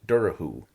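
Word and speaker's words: Dobhar-chú: what it looks like, but in Irish it's pronounced Durahoo and she she spelled it dur.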